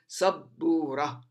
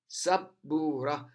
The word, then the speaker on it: سبورة: The ba, the first ba, which is the second letter, the first ba has got sukoon above it, and the second ba has got dhamma above it.